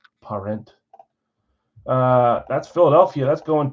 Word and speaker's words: Parent: with the other half I don't know if it's just straight up parent it's parent uh that's Philadelphia that's